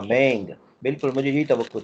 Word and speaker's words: mang: अच्छा, आप इस तरह बोलें MANG, इसको प्रोनाउंस करें। सर दोबारा करें। MANG, हाँ मैंग, बिल्कुल मुझे यही तवक्को थी, मैंग।